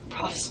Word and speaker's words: Prawfs: It's spelled PRAWFS blog, Prof's blog.